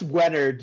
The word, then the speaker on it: Wenerd: pronounce that? Yeah, it's Wenerd. You the Wenerd. latter. Yeah. All right, I got close. Wenard sounds he very called you- like pro surfer.